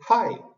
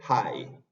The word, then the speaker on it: hi: a ver Es que la H suena como una exhalación por ejemplo cuando uno quiere saludar dice Hi Hi ese ha es una exhalación entonces esa exhalación Muchas veces el hispanohablante tiende a decirla como ha como una J pero yo tengo que bajar un poco la lengua Es simplemente High y H que significa